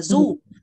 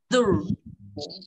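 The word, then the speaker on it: zoo: Sở thú không đọc là du mà đọc là dur.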